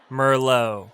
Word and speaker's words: merlot: our list of red wine names we have merlot not to be confused with merlot it's pronounced merlot all right guys that's the end of this